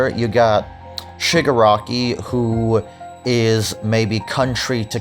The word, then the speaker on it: Shigaraki: I think at one point in the episode he says Jigaraki instead. Really, Boomstick? Was it so hard to learn how to say the character's name before recording? Is it really that hard to say Shigaraki?